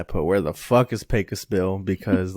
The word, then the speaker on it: Pecos: Pecos Bill. Or, excuse me, as they pronounce it, Pecos Bill.